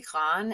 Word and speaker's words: grand: So when you say grand in the masculine form, you can't hear the D. But if I add an E to the end of it and I have to make it feminine, grande, it does change the pronunciation.